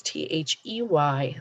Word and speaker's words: they: for spelling and sound we can hear that a sound but it definitely isn't spelled with an a it's t-h-e-y they this is a word